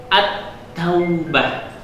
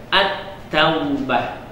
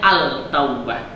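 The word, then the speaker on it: التوبة: Lalu contoh selanjutnya, huruf ta, alif lam yang bertemu ta menjadi at-taubah, ya, at-taubah. Tidak boleh kita baca al-taubah, tapi dia melebur ke huruf ta, ya.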